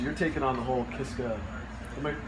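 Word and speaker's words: Kiszka: Oh, so you're taking on the whole Kiska, am I pronouncing it right?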